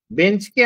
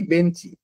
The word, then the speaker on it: বেঞ্চ: সত্যকে আমি বলছি সত্যি বেঞ্চকে আমি বলছি বেঞ্চি তাই না আসলে উচ্চারণটা হবে বেঞ্চ কিন্তু আমি কি বলছি বেঞ্চি তাহলে এটা হচ্ছে অন্তসরাগম